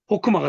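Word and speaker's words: חָכְמָה: 그래서 요게 호가 되죠, 호. 그 다음에 무성세화니까 소리 안 나니까. 요건 뭐예요? 마. 호크마가 되는 거예요.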